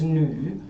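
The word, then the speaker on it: 女: Now this character over here means woman, as you see here, and the pronunciation is nu.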